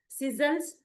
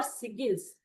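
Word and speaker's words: sigils: कुछ लोग इसे सिजल्स कहते हैं, कुछ लोग इसे सिगिल कहते हैं। हम इसे सिजल्स कहेंगे।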